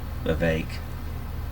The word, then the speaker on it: Vivek: Vivek. Rhymes with cake.